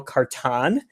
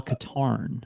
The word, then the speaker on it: Katarn: but the first mission you play as Kyle carton who is a character created for I've got to correct you I've got a crazy was Kyle Katarn guitar Alcantara art okay yes that's tantamount to